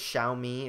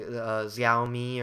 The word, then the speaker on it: Xiaomi: at the uh xiaomi I think it's xiaomi is the right way to pronounce it if I remember a lot of people say zomi or XI but I'm pretty sure it's uh xiaomi and uh Apparently that